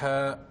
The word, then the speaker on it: ح: Pour essayer de bien prononcer cette lettre, il faut expirer de l'air sans faire vibrer ses cordes vocales, sauf au moment de prononcer les voyelles. Comme par exemple, si on met une fatha, on dira ha. Si on met une dhamma, on dira hu. Si on met une kasra, on dira hi.